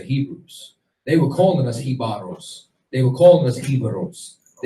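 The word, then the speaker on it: Jíbaro: Like, and what you're gonna see is that there's certain things, like, for example, Hibaro, or Hibaro is the real pronunciation of it. That's what they called the Tainos who fled into the mountains in order to hide from the Spanish.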